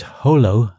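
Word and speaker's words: Jolo: He'd pronounced it Holo, as the locals did.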